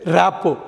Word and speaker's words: RAPPORT: அடுத்து பார்க்க போகிற நம்ம வார்த்தை வந்து ரேப்போ. நீங்கள் ஸ்பெல்லிங் பார்த்தீங்கன்னா RAPPORT. இந்த கடைசியில் வர்ற டீயை நீங்கள் உச்சரிக்கக்கூடாது.